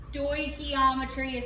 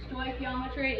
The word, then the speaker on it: stoichiometry: Stoichiometry is how you say that word. Stoichiometry.